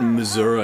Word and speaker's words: Missouri: the middle isn't it we call it Missour here do we no people from Missouri call it Missour you